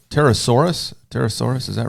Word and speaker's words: pterosaur: It's a pterosaur. The P is Well, you may silent. not want to talk to your son about P this, is silent. this Okay.